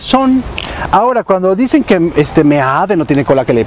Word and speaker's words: Meade: Meet, pendejos, lo están repitiendo ustedes la propaganda del gobierno, lo que es no tener cerebro a veces, de veras, les digo, es Meade, Meade, así es como se pronuncia.